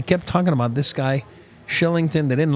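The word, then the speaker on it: Kylington: what is the origin of the K pronounced SH? Swedish. The what? Shillington.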